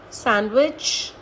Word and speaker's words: sandwich: There is no rule for these words, but these are some words in which D is silent. For example, handsome, Wednesday, sandwich, handkerchief.